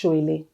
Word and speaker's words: Soile: And then Soile is the surname, but the surname is actually pronounced Soile. Okay. Oh, Soile. But for the brand purpose, it's Soile.